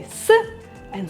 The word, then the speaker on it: со: Well, in front of these letters plus another consonant, you use sa. And that's why столом, there was a combination of s, t, and that's why you had to use sa.